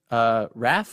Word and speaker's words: Rafe: And he's like, yeah, I picked Raph, or is it Rafe? I said Rafe.